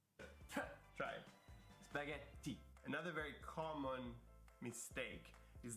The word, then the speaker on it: spaghetti: the double consonant sounds any double consonant sound has to be pronounced longer and stronger and we can hear